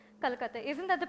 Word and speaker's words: Kolkata: Welcome to the 10th edition of the Apeejay Kolkata Literary Festival.